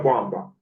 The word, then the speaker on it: Bwamba: Am I pronouncing it Okay. properly or no? Can I hear that again? Bwamba? Yeah, Bwamba.